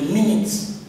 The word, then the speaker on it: minutes: The SG read the minutes, not minute, please this word, M-I-N-U-T-E-S. You don't pronounce this as U, you pronounce it as E.